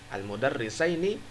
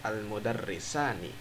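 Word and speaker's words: الْمُدَرِّسَيْنِ: Jadi dibacanya ihtarama Ahmadu al-mudarrisaini. Bukan dibaca ihtarama Ahmadu al-mudarrisani. Salah, ya.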